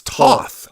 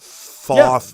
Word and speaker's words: Toth: And Lord, everyone says Lord, it's Toth. It's not Thoth.